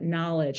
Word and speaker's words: knowledge: word web from that knowledge, and also pointing out the irregularity of the word know, and that the first syllable sound changes from no to na, as in knowledge.